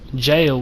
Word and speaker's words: gaol: Jail, which is spelled G-A-O-L. It's just another old English form of spelling, so that just pretty much means a underground jail, or it could be underground / underneath.